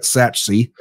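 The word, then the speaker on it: Sachse: Khalil Lockett at how do you pronounce is it sexy? Saxophone? It's saxophone, yeah. Saxy. Khalil Lockett at Satchsey, and Dalen McCutcheon at Lucas Lovejoy in Lucas, right?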